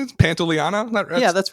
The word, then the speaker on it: Pantoliano: Pantoliano?